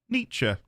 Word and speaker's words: Nietzsche: I'll Google the pronunciation because I've never had to say the guy's name out loud. Nietzsche.